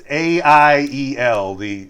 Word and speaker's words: Aiel: Also, they introduce us to, now again, like, how do I pronounce it? The Aiel, it's Aiel.